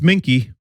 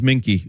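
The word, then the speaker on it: minke: how to pronounce that it it's it's minky it actually is minky it says according to Wikipedia so yeah I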